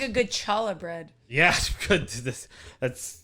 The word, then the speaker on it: challah: Who doesn't like a good challah bread? Yeah, good. That's how it's traditionally pronounced as well, I believe, right?